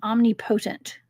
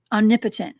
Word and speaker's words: omnipotent: was totality omnipresent and Omni potent omnipotent actually omnipotent I got to put the right Accent on the right salable okay so omnipotent and